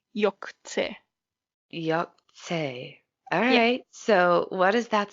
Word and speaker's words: Yog'tze: called the yucks a case and I'm gonna spell it out it's y ou G apostrophe TC e yuk yuk say alright so what is that supposed to mean